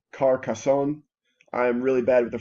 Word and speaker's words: Carcassonne: Carcassonne, it's actually Carcassonne.